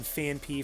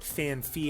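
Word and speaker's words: Phanpy: Dino, I used to say Dino, and then Fanpy, for the longest time I called it Fanphy, and I believe even in the anime they called it Fanphy.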